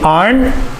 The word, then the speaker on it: aren't: There's the R sound, aren't, and then you need the N and the T, aren't. So you say aren't, and then you add the T sound, aren't, aren't. So it's two actions, it's like two syllables.